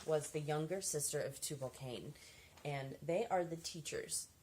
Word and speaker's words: Tubal-Cain: The third column in Reaper Society is Tubal-Cain, which, and this spelled, of course, this is supposed to be a U. It's Tubal-Cain.